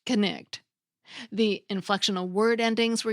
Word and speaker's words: knight: were pronounced for examp example Knight like swin and the Green Knight was pronounced kect the inflectional word endings